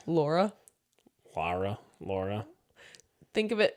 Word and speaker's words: Lara: feel like other well Laura wouldn't either Laura what did I say Laura Lara Laura think of it it's her name is l L A R A so say that like it's spelled lra Lara yeah Lara yeah